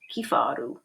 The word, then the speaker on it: kifaru: Sounds the way it looks, kifaru.